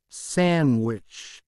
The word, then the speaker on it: sandwich: Don't pronounce D in those words in English. Wednesday, sandwich, handsome, edge, bridge, handkerchief, badge, hedge, fridge, lodge.